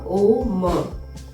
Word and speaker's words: ओम: में तीन चीज हो तीन जो पॉइंट है वो काफी इंपोर्टेंट है अ ओ म यानी अ कार ओ का एंड म का सबसे पहले आपके पेट